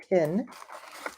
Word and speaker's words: tin: Like the number 10, 10, this is a slightly different pronunciation, tin.